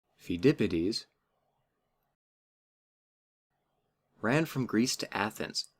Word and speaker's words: Pheidippides: It has a silent P in the front. Pheidippides ran from Greece to Athens, which was just about 25 miles, to announce their victory over the Persians.